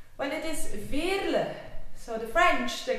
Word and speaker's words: Veerle: call me Veerle, but it is Veerle. I know it's a bit difficult to pronounce, but it's a typical Flemish name.